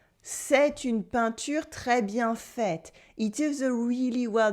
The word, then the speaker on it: faite: C'est une peinture très bien faite. Une peinture is a feminine noun in French, so the adjective gets an extra E at the end, which makes the T stop being silent.